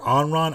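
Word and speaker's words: Anran: By the way, the character Onron, I thought the name was fucking Ayn Rand when I saw it because... It's spelled A-N-R-A-N.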